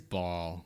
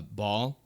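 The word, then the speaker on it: Bhaal: know that already to be bald that is ball yep the the uh the god of murder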